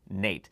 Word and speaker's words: N8: a 60 and the n8 it's actually pronounced Nate as it's named after Grammy winning bassist Nathan East now both of these